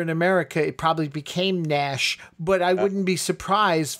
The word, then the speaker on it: Naish: And you think it's pronounced Nash? You look at it with that I in there, and you might almost think that it's Naish, but I suppose I think everybody says Nash.